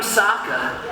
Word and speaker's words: Sokka: Hey, I'm Sokka. It's pronounced with an aka. Lady, I'll rock ya.